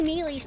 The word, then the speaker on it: melee: slower than her ground melee. Okay. What happened? Yeah, this is 3DS. Melee. Oh, y'all, shut up! Shut up! It's ridiculous! Melee sounds cuter. And it's spelled M-E-L-E-E. So me and then Lee.